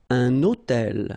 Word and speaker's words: hôtel: So you can see I'm making this little liaison between the two.